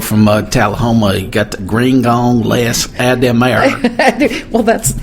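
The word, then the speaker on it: Grignan-Les-Adhémar: the whole pronunciation, but I would say Grignan-Les Adhemar is how I would go for it in my really fake French faux pas accent.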